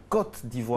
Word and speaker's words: Côte d'Ivoire: La côte d'Ivoire.